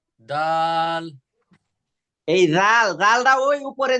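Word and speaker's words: د: এরপরে হ্যাঁ, ডাল। দাল। এই রাল, রালটা ওই উপরে যে সাড়া বলছিলাম যেরকম, জি। জি। রিদবাটা কি হবে আপনার, এই উপরে দুইটা দাঁতের সঙ্গে লাগবে এইরকম ভাবে, রাল। দাল।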